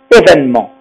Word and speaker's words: événement: Regardez, ce E, il est muet aussi, mais il n'est pas situé comme petit et venir dans la première syllabe. Alors, qu'est-ce qu'on fait les Français? On le mange et on ne le prononce pas. Et on dit événement. On prononce le N et pas le E.